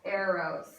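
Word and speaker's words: Eros: the least important type of love and that is spelled e r oos Aros and all Aros is it's very very simple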